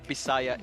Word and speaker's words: Visayas: feel sad no but it is like bisaya in Filipino but it's a v in English but it's Messiah Pride